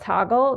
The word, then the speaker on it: Toggl: tool that I use is an app called toggle it's spelled t o ggl and it allows you